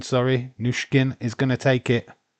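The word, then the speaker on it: Nüsken: And it's Newson. Nushkin, sorry. Nushkin is going to take it. Why do I always get a name wrong? Think of Pushkin.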